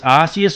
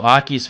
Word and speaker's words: Arceus: Now this Arceus or Arceus V-Star, depending on how you want to pronounce it, from Crown Zenith.